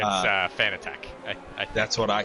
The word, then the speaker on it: Fanatec: Arrow says it's Fanatic and yells at me when I say it wrong. It's Fanatec.